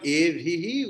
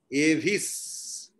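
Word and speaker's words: एभिः: And instead of Evihi, we will chant Evis.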